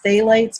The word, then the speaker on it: phthalates: It's phthalates, but it's spelled with a P.